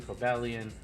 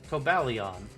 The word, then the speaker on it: Cobalion: feels like the last syllables should sound the same for all 3, so that's why I say Terrakion, Cobalion, Virizion. Otherwise it's like Terrakion, Cobalion, Virizion. And that just doesn't sound right to me.